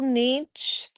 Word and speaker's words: Nietzsche: One syllable Nietzsche.